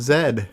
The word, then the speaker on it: zed: Now, is the proper way to pronounce V in the UK Ved? Ved. Yes. Yeah, that's what I wanted as a kid, so it would rhyme the alphabet. So, yes, it's Ved and Zed.